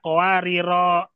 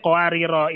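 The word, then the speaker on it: قواريرا: cara baca Kalau cara baca, kowariro, ya. dipanjangkan rohnya, kowariro, jalurnya, syatibiyah. Hmm, Thayyibun Nasr sama gak? Sama. Karena cuma satu perbedaannya di sini. Cara bacanya qawariro, itu namanya sifir mustadir.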